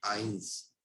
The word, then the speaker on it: eins: वन की spelling जो हमारे लिए है वो है EINS, इसको बोलते हैं आइंस। आइंस। टू की जो स्पेलिंग है हमारे लिए है ZWEI एंड इसको बोला जाता है ज़्वाई।